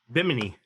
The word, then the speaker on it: Bimini: Bimini. B I M I N I. Bimini. Sure. Yeah, sounds right to me. That's not how they pronounced it. Hold on a second. Biminy. Biminy. There. Thank you.